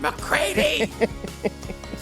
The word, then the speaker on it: McCready: She would take them to carpool, and they'd yell, "Campbell McCready," and she would say, "It's McCready." I don't do that. I've accepted that it's going to be mispronounced.